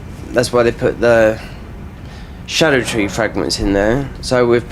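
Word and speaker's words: Scadutree: early and it's like scadu tree fragment which is Old English but it's pronounced Shadow tree fragment you can call it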